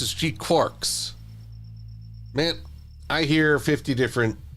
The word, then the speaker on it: GQuuuuuuX: I believe it's pronounced G-Quicks.